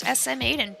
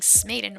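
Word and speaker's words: SMAiden: It was originally pronounced SM Aiden, but everyone kept saying Smaden or butchering it like that. So now that's the new way to pronounce it. And it flows well, better than Smaden.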